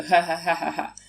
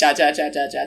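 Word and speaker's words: jajaja: AJ AJ right mm-hmm because the J is pronounced like I said so hahahahaha but Caroline and I like we both thought for some reason yeah it's pronounced ja ja ja ja ja ja ja sober like a week we were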